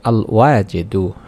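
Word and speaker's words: الواجد: অভাব অনটন দূর করে রিজিককে বরকত দান করবেন উচ্চারণটি হচ্ছে আল ওয়াজেদু আল ওয়াজেদু এভাবে আপনাকে 100 বার পড়তে হবে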